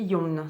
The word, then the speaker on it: Yeong: je crois qu'on prononce que le O. Donc, ça fait Young et Yon, si je ne dis pas de bêtises.